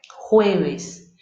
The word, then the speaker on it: jueves: O J, o E é a primeira sílaba e ela é a tônica. Então, a sílaba VES, vez, ela não é a tônica, né?